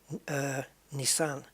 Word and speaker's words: Nissan: Nissan, I think they pronounce it Nissan. Nissan. It's where you put the emphasis.